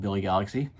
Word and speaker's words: Billy Galaxy: I actually say it wrong later on in the video. It's called Billy Galaxy.